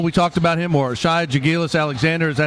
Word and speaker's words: Shai Gilgeous-Alexander: Jaren Jackson of Michigan State, Trae Young from Oklahoma, Colin Sexton, Alabama, Mohamed Bamba, we talked about him, or Shai Gilgeous-Alexander, is that how you say his name, JT?